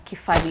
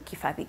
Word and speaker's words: Kibathi: So my Instagram handle is Kibathi, or actually you'd pronounce it as Kifali if you're Kikuyu. The B is an F. It's written as a B, but pronounced as an Kibathi. F. Kifali. So usually I just say Kibathi, but it's supposed to be Kifathi.